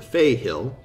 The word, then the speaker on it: Fey Hill: And then the parents of the wicked children, and then there's the Fey Hill, or the Fail, pronounced Fail by the locals.